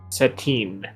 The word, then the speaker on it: Satan: it's fine just remember if you see Satan it's pronounced settin I would make somebody